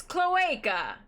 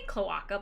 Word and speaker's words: cloaca: have yeah cloaca nice cloaca i said it right this time what did you say did you say cloaka before yeah and clay okay oh